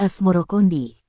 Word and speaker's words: Asmoroqondi: Sebutan itu mengikuti pengucapan lidah Jawa dalam melafalkan As-Samarkandi, yang kemudian berubah menjadi Asmorokondi.